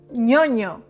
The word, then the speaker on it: ñoño: The ñ is a unique letter that we have in Spanish. It is pronounced like ña, ñe, ñi, ño, ñu. So this word is ñoño. Repeat. ño, ño. ñoño. It is not ñoño.